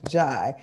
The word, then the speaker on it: Jai: She said she can't unmute, but it's pronounced Jai.